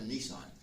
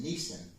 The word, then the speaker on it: Nisan: It's easy to mispronounce that like a car. It's not a car. It's not a Nissan. It's a Nissan.